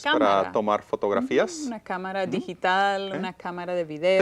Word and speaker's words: cámara: Una cámara digital, una cámara de video. 3 sílabas. Cámara. Okay. Where's the emphasis? Cámara. I hear it in the first one. Cámara. So we definitely need an accent, Correcto.